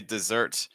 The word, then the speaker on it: desert: desert the Army yeah if you say desert as a verb form you're going to put the stress on the second syllable that's typically what you